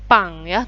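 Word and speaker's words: パン: untuk huruf Katakana adalah pangya tulisannya Pan Tapi bacanya punk silakan didengarkan yang ini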